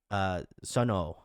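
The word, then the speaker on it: Sunwoo: So Suno, okay, thank you, Jazz. The W is silent.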